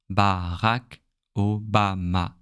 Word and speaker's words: Barack Obama: I don't know, in English, I think it sounds a bit different. Barack Obama or something like this. And the A is a bit different. Sometimes it sounds like or, you know. But in French, all sounds the same. All sounds are the same. A, Barack Obama.